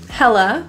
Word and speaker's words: hella: a quick D hater hella meaning very or extremely it's hella hot outside the a at the end is pronounced as a schwa very quick instead of ah hype meaning anticipation or